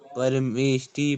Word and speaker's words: परमेष्ठि: भूर्भुवः स्वरिति, हाँ, स्वरिति महाव्याहृति नाम व्याहृतीनाम महाव्याहृतीनाम परमेष्ठि प्रजापति ऋषिर्गायत्री ठ पे परमेष्ठि, परमेष्ठि।